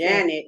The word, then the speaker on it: Janet: Janet is how they say it, but they say that Jeanette is a spelling.